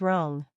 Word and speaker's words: wrong: about the silent W when w U comes before R it's silent examples right wrist wrong here's how they sound right is pronounced right wrist becomes wrist wrong is wrong just skip the W entirely when speaking these words silent G finally the